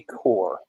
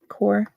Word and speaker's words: corps: MC that would be core core p is silent and the s for that matter oh why don't know